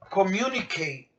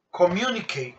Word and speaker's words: communicate: Yo quiero decir en inglés communicate. A ver. Communicate. ¿Cuántas sílabas tiene? 4.